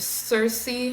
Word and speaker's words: Circe: When I think of mythology, one, not, I mean, it's not stereotypical, I guess, but Circe or Kirky, depending how you pronounce her name, I will always admire